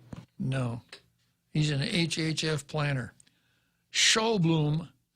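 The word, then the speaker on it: Sjoblom: said now s-j-o-b-l-o-m uh i would pronounce that show bloom looks like a danish name but then the guy's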